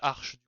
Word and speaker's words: Arch: Comme dans Arc, et pas comme dans Arc ou comme Archangel, ok. Très bien. Et bah voilà, on va prononcer ça Arch.